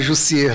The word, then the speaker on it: Jussier: Vou consertar um pouco aí a pronúncia do meu nome. Meu nome é Jussier Leite Silva. Jussier, né? É um nome um pouco atípico, por essa razão a confusão.